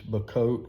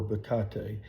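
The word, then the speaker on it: Bocote: So this next wood, I've heard it pronounced 2 different ways, Bacote or Bacate.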